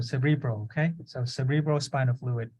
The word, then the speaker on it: cerebral: spinal fluid good so I like that you put the emphasis in the middle cerebral okay so cerebral spinal